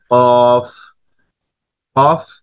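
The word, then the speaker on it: قاف: এরপরে আসো কফ। কফ হরফটিও অনেকটা ফা হরফের মতো, কফ হরফ উচ্চারণ হবে চার এলিফ টেনে কফ কফ।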